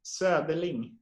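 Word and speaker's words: Söderling: So it's Soderling. There you have it. It's just the O with the two dots we have in Sweden. It pronounced ö.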